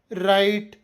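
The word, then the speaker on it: write: watch silent W ನಿಯಮ ಪದದ ಆರಂಭದಲ್ಲಿ ಆರ್ ಅಕ್ಷರದ ಮುಂಚೆ ಡಬ್ಲ್ಯೂ ಬಂದರೆ ಡಬ್ಲ್ಯೂ ಸೈಲೆಂಟ್ ಆಗಿರುತ್ತದೆ ಉದಾಹರಣೆಗೆ ರೈಟ್ ರಾಂಗ್ ರಿಸ್ಟ್ ಡಬ್ಲ್ಯೂ ನಿಂದ ಸ್ಟಾರ್ಟ್ ಆದ್ರೂ ಉಚ್ಚಾರ ಮಾತ್ರ ಆರ್ ನಿಂದ ಆರಂಭವಾಗಿದೆ ನಿಮಗೆ ನನ್ನ ರಿಸರ್ಚ್ ಮತ್ತು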